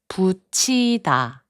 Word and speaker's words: 붙이다: 붙이다, which means to stick something, is pronounced as 붙이다.